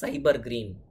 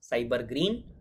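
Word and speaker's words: SYBR Green: Cyber green. So we pronounce this as cyber green. S-Y-B-R green, we pronounce cyber green.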